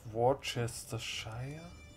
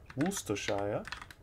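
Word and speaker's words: Worcestershire: get the earldom of warchestershire am i interested in the earldom of warchestershire woostershire ah yes i think that's the that's the wooster shell right that's how i pronounce it from him i could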